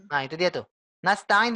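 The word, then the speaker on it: نستعين: Nah itu dia tuh nastain diulang Bu n nah pakai Sin tadi sebelumnya ibu pakai I pakai SH lebih lebih bulatnya ke SH ya antara SH dengan Sya ya Silakan diulang iyaka iyaka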